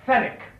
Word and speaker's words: Fenwick: me see oh yes Fenwick fenick the W is silent may I ask you